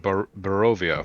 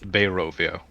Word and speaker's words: Barovia: So it's pronounced Barovia, not Barovia. No, what you're saying sounds like a very fancy beach location.